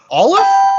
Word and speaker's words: Olliffe: some interviews from patrick olive is that how you pronounce his name yes olive like olive but with f sounds ah yes and brett